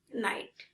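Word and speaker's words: night: NIGST নাইট, RIGST রাইট। কোনো ওয়ার্ডে IGS থাকলে জি এর উচ্চারণ হয় না।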